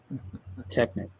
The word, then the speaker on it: Technic: It's pronounced Technic, Jesse. Technic.